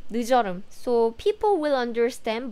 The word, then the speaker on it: 늦여름: Though some Korean people still say 늦여름, 늦여름. So people will understand, but the correct pronunciation is 늦여름 because we want to emphasize 늦 and 여름 separately.